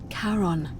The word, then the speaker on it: Charon: wasn't karen it was c h a o n as in caron the ferryman of the dead karon who in exchange for